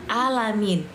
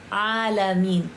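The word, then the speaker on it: عالمين: Kalian bacanya jangan alamin, tapi ain alamin. Kalau kalian bacanya alamin, berarti Tuhan yang sakit gitu ya kan.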